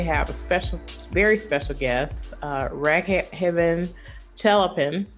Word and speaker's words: Raghavan Chellappan: Today, I'm very happy to have a very special guest, Raghavan Chellappan, correct? Did I Absolutely. say it right? Raghavan Chellappan. You got it right. I try to make sure I pronounce people's names right when I can.